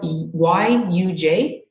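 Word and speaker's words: युज्: Sanskrit word, excuse me, it's spelled Y-U-J, and I'm not brave enough to really pronounce it, but I believe it's pronounced yuj, and which means to yoke, join, or unite body, mind, and spirit.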